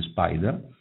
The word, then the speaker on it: SPDR: Sono tutti emessi da Spider, SPDR si legge Spider.